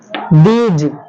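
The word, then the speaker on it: those: कह देते हैं तो दीज़ नहीं कहना है दीज नहीं कहना है क्या बोलना है दीज़ ठीक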